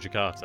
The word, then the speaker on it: Jakarta: Oh, that's how you pronounce it, Jakarta, okay. It doesn't quite look like it, but when you hear about it, it's like Jakarta.